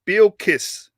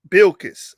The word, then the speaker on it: Bilkis: i'm saying he says how to pronounce that word is bill kiss bilkiss all right they called